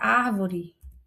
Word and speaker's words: árvore: não vi, a palavra árvore. Claro que tem acento, né, gente? Olha a árvore. Olha a árvore. A sua antepenúltima sílaba é a mais forte, então é uma proparoxítona, e todas as proparoxítonas serão acentuadas.